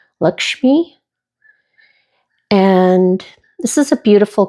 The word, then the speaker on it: Lakshmi: And I know I'm going to mispronounce it, but I'm familiar with this image from my trip to Bali because she's a Hindu goddess, and I believe it's pronounced Lakshmi.